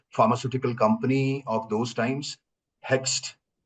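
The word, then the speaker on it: Hoechst: So I joined one of the best pharmaceutical company of those times hex uh h o e c hst uh a German uh pron pronunciation but Indianized into hex in 1987.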